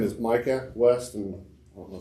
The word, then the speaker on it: Micah: My name is Micah West, and I don't know if it matters, but it's MICAH.